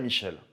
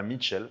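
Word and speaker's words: John Michell: avec révérend john michel vous noterez que j'ai dit michel est pas mitchell parce qu ils pas de thé dans son nom même si quand on le prononce à l'anglais zone redire mitchell je dirais peut-être aussi mitchell en tout cas ce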